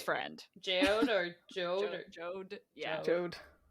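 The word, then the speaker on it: Jeod: or joe joe yeah jode even though from the way it's spelled it looks like it should be pronounced like geode that's how i was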